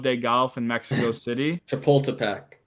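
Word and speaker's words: Chapultepec: Chipultipac. Yeah, that that's how it's pronounced.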